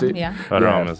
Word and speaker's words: Haram: So let's go ahead and get into this Islamic terrorism group in Nigeria, Boko Harem, however you want to pronounce it. Yeah. Haram is how I've heard it.